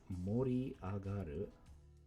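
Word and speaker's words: 盛り上がる: also two rounds you're gonna cite it is mori agaru mori on the right side can also be pronounced sakhari but not in this word justin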